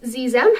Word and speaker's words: xem: And then the other one is Zem. It's spelled Xexem. And it's spelled with an X, but it's pronounced with like a Z sound.